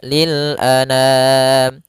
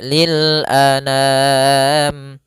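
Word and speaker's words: للأنام: Tapi karena digabungkan penulisannya seperti ini enggak langsung saja lil anam. A sempurnakan hamzah jangan ana. Jangan dibaca dengan dengung atau dibaca dengan masuk hidung. Tidak. tapi lil anam.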